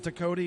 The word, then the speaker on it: Ducote: Ducote is a Cajun French name. So you nailed the pronunciation of it.